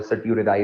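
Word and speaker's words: certiorari: वो कभी कभार टी साइलेंट हो जाता है, वो नाम आपका चेंज हो जाता है, वो सर्टियोरेराई उसको बेसिकली वो कहते हैं।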